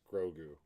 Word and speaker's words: Grogu: yoda command brings up it's pronounced grogu to correct zach every